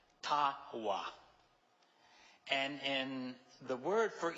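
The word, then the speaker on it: taba: T-A-B-A, but the B is pronounced like a W. Tawa.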